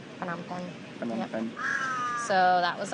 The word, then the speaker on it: Phnom Penh: It looks like Phnom Penh, but I guess it's pronounced Phnom Penh. Phnom Penh.